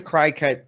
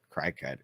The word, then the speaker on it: Cricut: I'm saying Cricut. It's pronounced.